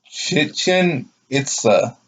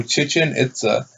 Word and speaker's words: Chichen Itza: Chichen Itza. Oh yeah, it's Mexico. It's almost spelled like chicken, but instead of the K, it's a H. So Chichen Itza.